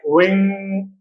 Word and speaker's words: wing: But if at the end we have NG, N is pronounced but G is silent. Like wing, wing. When we pronounce this sound, then we stop. We don't say wing. We don't produce this g. We stop at wing.